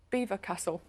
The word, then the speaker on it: Belvoir Castle: Is it not Beaver Castle? Is it? Is that the pronunciation?